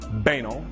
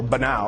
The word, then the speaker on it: banal: and did you know you can pronounce banal three different ways and no one can tell you you're wrong you can say banal or but now like canal you can say been all like recall or you can just say